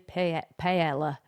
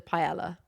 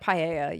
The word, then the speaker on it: paella: I don't know in England everyone sort of says pella which I don't know why. Yeah. I think in the actual pronunciation you don't say the um L's.